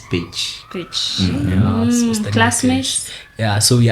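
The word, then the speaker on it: Pécs: In Kenyan ways, tunaweza ita PEX. PEX. Yes. PECS. PEX University, yes. Hungary. But the Hungarian way of saying it is Page.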